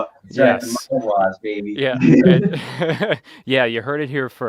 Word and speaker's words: Maguas: looking how to spell it. Yes. Maguas, baby.